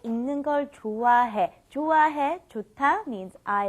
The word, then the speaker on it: 읽는 걸: Be very careful with the pronunciation. You want to think of it as saying this right here. ing, okay? ing, like ing in English, okay? 읽는 걸, 읽는 걸, 읽는 걸, 읽는 걸.